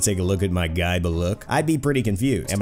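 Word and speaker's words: Gáe Bulg: His weapon is not called a gay bulge. Wait, really? It isn't? It's pronounced guy, but look, how can you commoners not know that?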